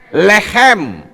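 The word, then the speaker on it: לחם: Bacanya apa? Lehem.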